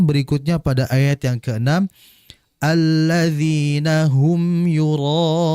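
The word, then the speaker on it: الذين: Perhatikan di alladzina, huruf dzal. Jangan sekali-kali kita membacanya seakan-akan seperti huruf dal. Alladina. Ya, hati-hati. Dia huruf dzal ini ujung lidah berjumpa atau bertemu dengan ujung gigi seri atas. Dza. Alladzina. Alladzina.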